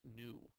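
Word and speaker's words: ν: like that that stands for frequency and it's pronounced new so when you take a look at the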